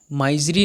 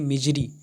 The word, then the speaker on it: misery: ठीक है, माइजरी नहीं पढ़ना है आपको, माइजरी होता है बट आप जैसा भी प्रोनाउंसिएशन करें कर सकते हैं, लेकिन बट अगर क्लियर बोलना है तो क्या बोलेंगे? मिजरी, MISERY। ठीक है, तो मिजरी का